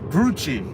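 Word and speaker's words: Grucci: Rhyming with rhyming with Gucci and Coochie. Gucci.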